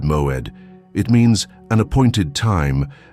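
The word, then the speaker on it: מועד: The Hebrew word that defines exactly what is happening with you is moed. Pronounce it with me, moed, moed.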